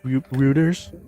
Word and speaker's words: Reuters: Roers. Who do you watch? Roers. Reuters. Reuters. Reuters. Reuters. I always mispronounce that.